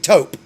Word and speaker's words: taupe: I just got Tope. Wait, how do you say that? Tope? Topaz? Topaz? Tope Cobra? You mean taupe. Taupe. That's right. Taupe.